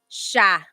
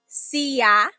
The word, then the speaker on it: siya: So it looks like it should be pronounced siya, right? It looks like that's how it's pronounced because that's how it's spelled siya. But the S-I-Y combination, that makes a sh sound.